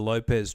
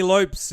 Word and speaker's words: Lopes: been um I've given you the uh the Lopez treatment all podcast Tony Lopes is the correct pronunciation all right well thanks very much Tony